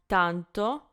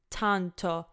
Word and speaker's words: tanto: one so door donto if I were to say with English pronunciation it would be tanto tanto so I think you can hear how dramatically different it sounds and this is like